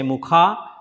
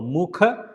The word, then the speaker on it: Mukha: Don't say mukha. So mukha. It is one time U, right? So it is a small sound.